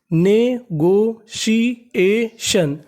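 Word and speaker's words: negotiation: TION, TION को हम लोग इंग्लिश में पढ़ते हैं शन। ये हमारा कोड होता है क्योंकि TION का उच्चारण होता है शन।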